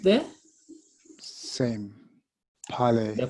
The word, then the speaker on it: parler: so we have got ET is pronounced the same as ER, is pronounced the same as EZ. All of them are pronounced what? As what? A. See that? A. T silent, R is silent, Z is silent.